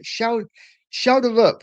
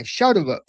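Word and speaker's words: Schjelderup: Being from that part of the world, I would say Schelderup. That's how you pronounce it. Okay, Schelderup. There you go. Look, I'm always Norwegian. Schelderup.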